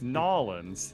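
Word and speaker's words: New Orleans: say gnarlins not gnarlins there's no r it's nollens no now lens if you don't say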